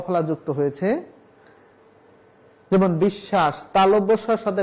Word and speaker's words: বিশ্বাস: রয়েছে শব্দের মাঝে তাহলে শব্দের মাঝে যদি বফলা থাকে তাহলে বফলা উচ্চারিত হয় না কিন্তু যুক্ত ব্যঞ্জনে বৃত্ত হয় কাসে যুক্ত হয়েছে তালবর্ষার সাথে তাহলে আমার উচ্চারণ করতে হবে বিশ্বাস বলা যাবে না বিশ্বাস বিশ্বাস বলা যাবে না বলতে হবে বিশ্বাস বিশ্ববে না বিশ্ব বিদ্বান